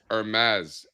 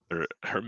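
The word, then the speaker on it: Hermès: Todd, you don't pronounce the H, bro. It's Hermes. Hermes.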